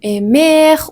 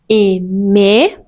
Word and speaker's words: aimer: Le R à la fin des infinitifs n'est jamais prononcé. Donc, ne dites pas manger ou aimer ou regarder, c'est faux. Vous pouvez dire tout simplement manger, aimer ou regarder avec une voyelle très claire à la fin.